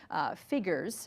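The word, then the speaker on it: phigors: of what she calls figures and that's an invented word that she made up p-h-i-g-o-r-s it sounds like the word figures but really what she's talking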